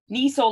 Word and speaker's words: Niesel: But if I just say Niesel like diesel, Yeah.